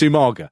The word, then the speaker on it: Umaga: He could never say it's Umaga. Yeah. Right? Even though everyone must have been saying the name all the time. 3 syllables.